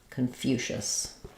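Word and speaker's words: Confucius: a question about confucious confucious um so second syllable stress we we have the um reduce vow here so it's going to sound like K or there will be a little schah there k um and then for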